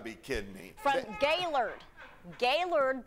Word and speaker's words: Gaylord: Gaylord, that's how it's pronounced, not Gaylord.